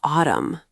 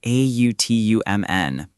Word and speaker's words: autumn: Maybe autumn. Oh, yeah. A U T U M N. The N is silent.